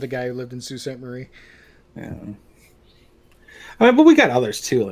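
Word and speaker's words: Sault Ste. Marie: that too like um sault ste marie does not like salt saint marie yeah i actually worked with a guy who lived in sault ste marie yeah i mean but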